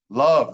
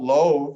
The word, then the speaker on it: love: Love, there's another one. It's not loathe. It looks like it should be low, but silent E and the O doesn't say its own name. It says the schwa O, love.